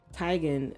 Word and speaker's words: Teigen: chrissy teigen for me tygan i believe is how you say her name um didn't know that yeah she was she told everybody that she said tygan just like um it's